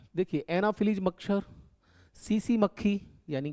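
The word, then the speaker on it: tsetse: है देखिए एनाफिलीज मच्छर सीसी मक्खी यानी कि ये लिखा हुआ है जापानी शब्द है तो टी को साइलेंट रखेंगे सीसी मक्खी बोलते हैं इसको क्या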